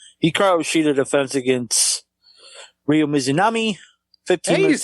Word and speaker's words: Mizunami: Hikaru Shida defense against Ryo Mizunami. 15 Hey, you minutes said 10 it right. seconds. What? you said it right. They fucking every 5 seconds fucking who's it? Excalibur's like Mizuyami!